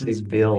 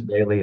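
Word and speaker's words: Behle: you say it Parson everybody gets it wrong they say Bill I think but it's Parsons Bailey and ladimir and ladimir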